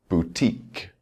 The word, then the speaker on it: boutique: Rule number 7 shows us words where we stress the suffix itself.